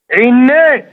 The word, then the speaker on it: عناب: إيه ما بتتنطقش كده ما بتتنطقش كده أمال بتتنطق إزاي عناب عناب